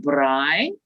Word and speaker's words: braai: the barbecue and a few, we call it braai. It's that's spelled B-R-A-A-I.